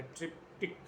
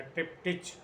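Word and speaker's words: triptych: है, जिसका नाम है ट्रिप्टिक या ट्रिप्टिच, दोनों उच्चारण होते हैं।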